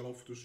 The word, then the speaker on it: Loftus: Quindi prendetela con lui mi ha detto che si pronuncia loftous 5 milinkovic Savic all of